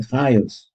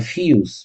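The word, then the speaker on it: חיות: So now he says he's pronouncing it Chayus. It could be like Chiyus, but anyway, the Chayus that are in the Yisod, Olamala Bebechinas Ratzo.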